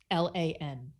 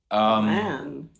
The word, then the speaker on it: Lan: Apparently there's some conflict over how to pronounce which character? Name. The King of Malkir, Lan. Lan.